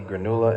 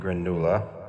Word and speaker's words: granula: If you take a closer look at the granula can, you may notice there's always a line over the letter U in granula to serve as a useful pronunciation guide.